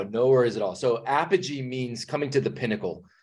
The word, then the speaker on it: apogee: I want to address before we get to apogee strong but can you what does apoji mean am I pronouncing it right and what that's so funny